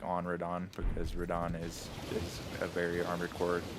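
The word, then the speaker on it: Radahn: Radon, not Radigan. Rodon. Radigan is a different guy.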